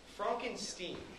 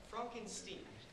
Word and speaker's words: Frankenstein: meet you i'm edward that's frankenstein i beg your pardon my name it's pronounced frankenstein uh do you also